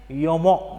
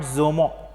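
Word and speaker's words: Jomo: Here the pronunciation is Yomo, not Zomo. Okay, here MANYATHA.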